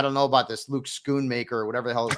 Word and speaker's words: Schoonmaker: I don't know about this Luke Schoonmaker or whatever the hell his name is. I don't even want to pronounce his name correctly, just to disrespect the